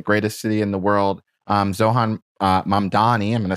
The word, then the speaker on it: Zohran Mamdani: Zohan Mamdani, I'm going to say it right so I